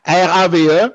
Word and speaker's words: Rave: Bon, le Ravi... Ravi. Comment? C'est ça? Ravi, ouais. Ben, bon. R-A-V-E, Rave. C'est eux qui le prononcent de cette façon-là. Moi, mes souches sûrement scandinaves, quelque part, Ravi.